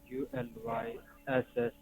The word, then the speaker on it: Ulysses: ULYSSES. That's correct. You you live It's pronounced Ulysses.